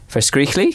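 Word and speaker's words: verskriklik: it verse oh goodness vers Greek Le no you must really push the first Crick that's good a we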